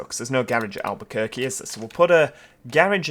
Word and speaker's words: Albuquerque: right there we go don't think choir Quay is quite how to pronounce it it's Albuquerque isn't it but uh but